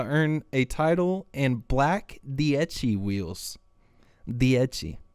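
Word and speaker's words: Dieci: a title in black dii wheels dii really got the Italian pronunciation there is it not dicey n no way no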